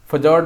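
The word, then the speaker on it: fjord: ठीक है, तो फजॉर्ड बोल सकते हैं, फ्योर्ड ऐसे इसको फ्योर्ड बोलते हैं, बट एफजॉर्ड समझिए या फजॉर्ड समझिए, और देसी आदमी है देसी में समझिए फजॉर्ड।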